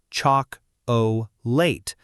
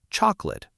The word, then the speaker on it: chocolate: The correct way is to relax the unstressed vowels into a schwah, like in the word chocolate, which many learners say as chalk late. But natives usually say chocolate or chocolate much shorter.